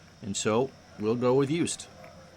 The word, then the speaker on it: Yost: so we'll go with yust it wouldn't be yoast that would be y o s t as in ned anyway pitch to stern